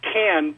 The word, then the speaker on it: Khan: you first off on the pronunciation of khan it's can but that's only if